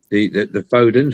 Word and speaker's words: Foden: lorries, the commercial lorries, the Fodens or Fodens, as everybody likes to call it, whichever way you want to pronounce it, and some of the